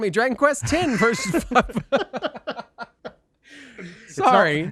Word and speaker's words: Dragon Quest X: x version 5.5 and version 6 coming this year pronounced 10. pardon me dragon quest 10 versus sorry it's not